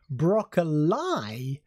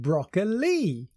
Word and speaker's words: broccoli: her pronunciation of broccol she said it as broccol instead of broccoli many people asked her